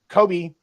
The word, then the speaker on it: Kobe: I do know that Kobe's white.